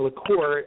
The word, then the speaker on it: LaCour: And one of our good friends over at Blackbaud, LaCour. do I have the pronunciation of your last name correct?